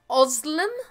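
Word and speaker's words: Özlem: Yes, correct pronunciation, but my name is Oslem.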